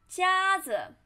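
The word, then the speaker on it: 夹子: of this character 夹夹子 which means clip 夹子夹子夹子 flat tone 夹子 and here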